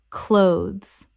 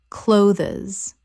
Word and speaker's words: clothes: often often Word 299 clothes Common mispronunciation clothes-es Correct pronunciation clothes One syllable only. The th is almost completely silent in natural speech. It rhymes with those.